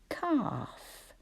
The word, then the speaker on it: calf: Then we needed that L we can't hear.